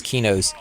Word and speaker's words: Qeynos: on your own and I've never heard the the Q pronounced with a que released of it if I do you don't hear it that often so I always just thought it was Quay nose and not quino's but what tomato tomahto